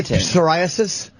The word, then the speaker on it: psoriasis: Do you say psoriasis? That is a silent P.